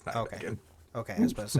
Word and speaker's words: Nijmegen: The EFF maintained a just-for-show military academy in Nijmegen. Nijmegen? I looked it up. It's Nijmegen. Okay, I was about to say, I don't want to pronounce that wrong.